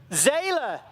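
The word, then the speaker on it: Zele: Like I said, this one was competing in Zela, Zeal, Zeala, Z E L E, however you pronounce that in Belgium. Za, thank you, Marty.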